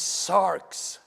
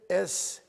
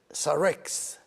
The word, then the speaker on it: sarx: from the Greek, and it's one syllable, not two. So it is sarx, sarx. In English, you can write it S-A-R-X, sarx. And there's a tendency for many people to pronounce it Sarex.